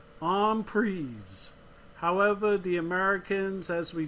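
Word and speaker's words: en prise: a French word which means intake and it's pronounced on pries however the Americans as we tend to do we take a word and we make our own and most americans pronounce it on pre even though it is really supposed to be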